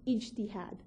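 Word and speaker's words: ijtihad: a tradition known as inad now I realize that this word sounds frighteningly like Jihad to a lot of non-arab ears and let me be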